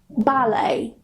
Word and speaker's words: ballet: So if they end with a T, we normally don't pronounce it. Nah, ini aturan yang terakhir, number 4, with French borrowed words. For example, ballet, gourmet, buffet or buffet, rapport, ricochet.